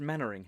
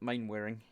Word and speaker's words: Mainwaring: the different beyond hope says it's pronounced mentoring not Mainwaring I know but the